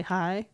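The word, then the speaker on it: Haigh: male name yeah Bernard so if you see Bernard hay eight and it's spelled h-a-i-g-h or unless you say hi instead of hey I don't know okay but she is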